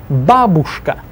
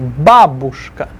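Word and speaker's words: бабушка: Babushka. Stress the ba first syllable. Babushka.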